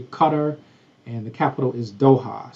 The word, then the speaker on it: Qatar: That is pronounced Qatar, not Qatar. Americans pronounce it Qatar, but it's actually Qatar, and the capital is Doha.